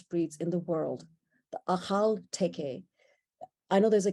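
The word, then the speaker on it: Akhal-Teke: in the world the achal teke i know there's a k americans pronounce it but in that area the k is more guttural a haltepe they come from turkmenistan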